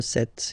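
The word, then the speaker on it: sept: Remember set, it was this P disappear. You don't pronounce it.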